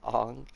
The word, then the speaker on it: Aang: Okay, that's how us cool people pronounce it. Aang. Yeah, Ong.